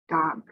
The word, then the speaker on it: dog: saying da da da there is a sound at the end but i am not saying it really strong like dog because then we hear that uh after it we don't want to hear the air coming out but uh just